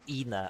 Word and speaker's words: ENA: guess they it's guess most people pronounce it as Ena. I say Anna because I'm Brazilian.